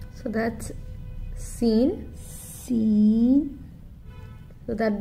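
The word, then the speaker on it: سين: So that's Seen. Seen. So that the English word S-E-E-N, Seen. You can pronounce it like that.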